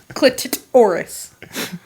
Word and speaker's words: clitoris: Clitoris. Clitoris. Clit and then the clit space and then taurus, like Yeah, the yeah, yeah. astrological sign. Her clitoris was so shinny under the water.